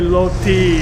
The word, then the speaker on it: roti: They have it here in Thailand, but they call it, it's spelled in Thai, roti, but they say loti in speaking language, loti. So you'll hear loti a lot, but they like to